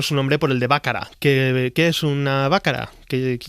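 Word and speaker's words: Baccara: Según José María Íñigo, Bácara. Bácara, vale.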